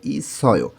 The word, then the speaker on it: 있어요: উচ্চারণটা হবে ইসয়, ইসয়।